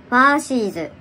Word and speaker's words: 花西子: このね、花にしこって書いてファーシーズって読むんだって。